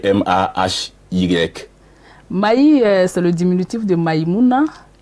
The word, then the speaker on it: Mahy: Parce que ça s'écrit M-A-H-Y. Mahi, c'est le diminutif de Maïmouna.